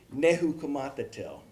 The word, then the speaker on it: Nezhukumatathil: Okay, Aimee Nezhukumatathil.